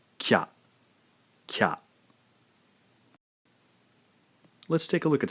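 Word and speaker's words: きゃ: cha so in essence by combining the two separate syllables Ki and ya we end up with a single Blended syllable again pronounced Kya let's take a look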